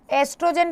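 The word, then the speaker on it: oestrogen: फिर आते हैं एस्ट्रोजेन, एस्ट्रोजेन बेटा ई से भी लिख सकते हैं, ओ से भी लिख सकते हैं, ओ साइलेंट होता है, ठीक है।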